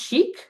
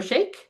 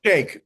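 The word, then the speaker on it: Sheikh: Um and so uh is that pronounced shik or shake? Shake.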